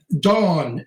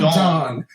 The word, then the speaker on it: Dawn: Dawn is pronounced Dawn, not Don. Don is a man, like Don Amici or Don Jose. Dawn. Dawn. Look at the mouth. Dawn. Dawn Hinton. Dawn, because there's a W there. Pronounce the W.